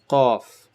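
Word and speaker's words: ق: Qaf, qaf. Imagine this is your tongue again. The back of your tongue touches raises up and touches whatever's above it.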